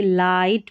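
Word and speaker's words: light: जी और एच जो है नंबर 10 पर दे रखा है। यह साइलेंट रहता है। यानी कि जी एच के बाद में ज्यादातर स्पेलिंग में टी रहता है आखिर में जी एच के बाद में और देखिए यहां पर नहीं है। तो ये जी एच साइलेंट होता है। जैसे लाइट पढ़ेंगे इसको जी एच का उच्चारण नहीं हो रहा है।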